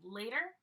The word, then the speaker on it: later: to the party later I don't pronounce the T really hard is more like a D for me later okay and then using